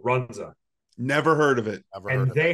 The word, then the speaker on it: Runza: food franchise that is only in Nebraska called Runza never heard of it they have the 100